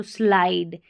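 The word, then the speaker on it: slide: IDE को आइड पढ़ते हैं, ठीक है, आइड, इड नहीं पढ़ना क्योंकि लास्ट में ई है ना, इसलिए आई का उच्चारण आई है। तो स्लाइड, ऐसे करके पढ़ना है, स्लीप, स्लो, स्लाइड।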